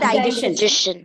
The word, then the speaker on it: digestion: It's not digestion. Digestion. So that means the word digestion. See, digestion. This particular syllable has got a sound like shin, something like this. Shin. Digestion.